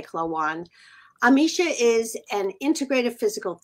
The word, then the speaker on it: Klawonn: dear friend Amisha clawoon how do you say your last name my Philadelphia accent coming into play clawan Amisha is an integrative